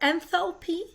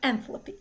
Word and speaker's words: enthalpy: You can pronounce it enthalpy or enthalpy. I've heard both. Both are okay.